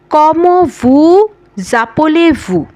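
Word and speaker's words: Comment vous appelez-vous: কম আলেভু জোভেবিয়া অথবা সাবাবিয়া এরপরে আসা যাক কমভু জাপলেভু কমভু কমভু জাপলেভু দর্শক এই এসটা এই এসটা কিন্তু এই আপলের এ এর সাথে লেয়াজ হচ্ছে এ কারণে কিন্তু উচ্চারণ হচ্ছে কমভুজাপলেভু কমভু জাপলেভু এর অর্থ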